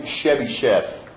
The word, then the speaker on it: Chebyshev: You pronounce this name Chebyshev.